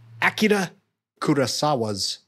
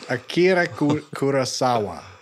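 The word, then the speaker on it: Akira Kurosawa: It's a remake of Akida Kurasawa's High and Low.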